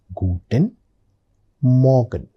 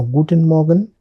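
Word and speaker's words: Guten Morgen: I pronounce it Guten Morgan. Did you observe when I was saying Morgan, the letter R was very very faintly pronounced. It's very important.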